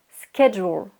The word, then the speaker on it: schedule: Schedule. Donc je vous l'écris, regardez bien sur l'écran. Ça s'écrit S-C-H-E, mais ça se prononce schedule.